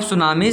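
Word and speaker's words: tsunami: अच्छे से याद करिएगा टी पहले होता है टी साइलेंट होता है इसमें और एस यू एन ए एम आई एस सुनामी ठीक है ओशन में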